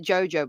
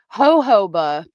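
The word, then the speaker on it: jojoba: Jojo. Yeah, I say it Jojo. I'm probably saying it wrong. Ho hoba pronunciation. See, I knew I was saying Joba. Ho hoba. Ho hoba. That's what it is.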